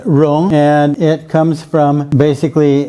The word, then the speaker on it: 戎: This character is pronounced Rong, and it comes from basically the dagger axe and a shield.